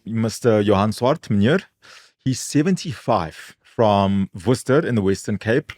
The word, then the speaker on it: Worcester: Johansson he's 75 from Worcester in the Western Cape well pronounced Google very well pronounced easy not like the sauce yeah so he needs